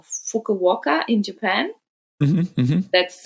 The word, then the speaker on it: Fukuoka: They're going in December to, oh my God, I'll say it wrong, Fukuoka in Japan. That's Fukuoka.